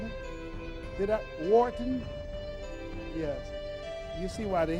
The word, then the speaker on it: Wharton: He has an MBA from Walton. Am I pronouncing it? Wharton?